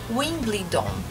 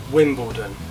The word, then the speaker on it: Wimbledon: aos brasileir a muitos brasileiros também errado quando pronunciam errado que eles falam Wimbledon eu já já ouvi muitos estrangeiros de outras nacionalidades fal falando também Wimbledon e não é de novo lendo tentando pronunciar